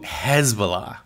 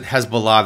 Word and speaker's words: Hezbollah: I'm going to pronounce it Hezbollah. That's how it's pronounced, right or wrongly, in the United States today.